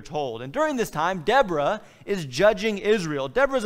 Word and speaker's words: Deborah: By the way, this is probably something closer to Deborah and Barak. But I'll just use the American pronunciation that I was raised with and say Deborah and Barak.